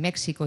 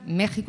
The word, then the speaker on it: México: os hagáis una idea la x que hay en México y Texas que en realidad deberían supuestamente pronunciarse en México y y Texas igual que decimos examen o extranjero eh se pronuncian México y Texas Es decir esa x una una J porque es como si